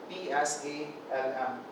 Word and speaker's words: psalm: So PSALM, we call it psalm.